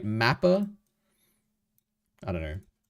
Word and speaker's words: MAPPA: So the a so he said mappa and I've heard people say mappa but animation should be mappa animation mappa right that's the correct pronunciation right mapper I don't know